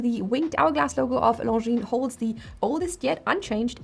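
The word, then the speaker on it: Longines: Founded in 1832, the winged hourglass logo of Ljine holds the oldest yet unchanged and still active registered trademark. The G as well as the S are silent in the name.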